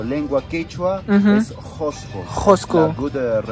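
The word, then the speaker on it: Qusqu: En Quechua lengua o lengua Quechua es Josco. Josco. La good pronunciation.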